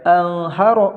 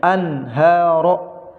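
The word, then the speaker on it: أنهارا: Anharo tidak boleh dibaca anharo, nggak boleh, tapi harus dibaca jelas nunnya. Anharo.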